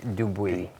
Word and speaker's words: Dubuis: Roger Dubuis du Bois it's not du Bois please don't call it du Bois it's Roger Dubuis roll your R's or Roger Dubuis that's fine it's fine and internally